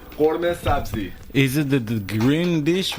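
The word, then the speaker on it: قورمه سبزی: Do I pronounce it right? Actually, khorme. Korme? Khorme sabzi.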